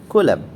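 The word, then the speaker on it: coulomb: सी ओ यू एल ओ एम बी कूलम। ठीक है?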